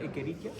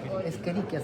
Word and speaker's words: Escherichia: ¿Cómo era? ¿Equerichia? No, se pronuncia Escherichia, se pronuncia, ¿cierto? Pero se escribe Escherichia.